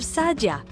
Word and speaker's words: Saadia: RAV Saadia for example it's pronounced RAV Sadia got it thanks published